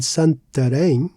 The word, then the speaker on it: Santarém: So here in sen we used an acute accent to stress re without it it would sound as sar which is incorrect and it sounds very foreign to Portuguese ears.